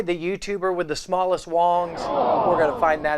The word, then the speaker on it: Wangs: a company called wong's i know it looks like wangs but it's pronounced wong's as i understand it and i know you're